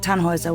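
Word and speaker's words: Tannhäuser: Tannhauser. We'd pronounce it Tannhauser with an umlaut.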